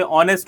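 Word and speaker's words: honest: जैसे ऑनेस्ट हो गया तो वहां पे साइलेंट होता है।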